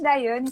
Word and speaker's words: Diane: Diane com pronúncia latina, como eu falo, né? Mas pode chamar de Daiane também, que não tem Ah, eu, problema.